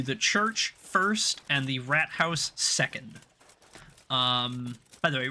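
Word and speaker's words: Rathaus: port house the like it's actually rat house that is literally how they say it is rat house everything we need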